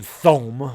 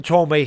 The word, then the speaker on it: Thome: I didn't know how to say it. I'm thinking it's Jim Thome. I mean, that's, you don't know anything about these guys. I remember Jim Tomei hit 2 shots to dead center field.